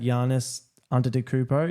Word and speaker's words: Giannis Antetokounmpo: You had Giannis Antetokounmpo.